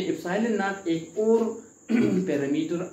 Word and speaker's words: ε₀: पे नॉट लिखा है तो एप्सिलॉन नॉट इसको हम प्रोनाउंस करते हैं।